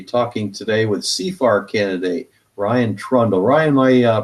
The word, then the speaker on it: Ryan Trundle: Hello, I'm Victor Tiffany with Citizens Against Plutocracy, talking today with CFAR candidate Ryan Trundle. Ryan, am I pronouncing your name right?